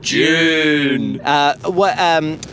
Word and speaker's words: Dune: It's a diphthong, Mark. I say Dune. And that's incorrect. That's what the Americans say. Dune. June. Dune. Dune. Dune. It's Dune. No, Dune. I like saying Dune. Yeah. June. And the correct way to say it is June.